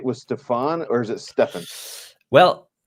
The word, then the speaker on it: Stefan: actually both are wrong so in Germany I wouldn't introduce myself as Stefan okay it's kind of the German pronunciation but when I do my videos and also in the in the podcast that I do together with Thomas allah-allah I usually say Stefan because I don't know it's more like the English pronunciation of my name but everything's fine everything's